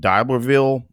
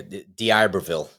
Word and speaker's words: D'Iberville: October 24th through 26th, now I always screw up pronouncing this D'Iberville, Mississippi. Boy, I really screwed that up. Yeah, D'Iberville.